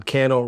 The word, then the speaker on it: Cannell: check out my gosh candle rhymes with Channel and we'll see you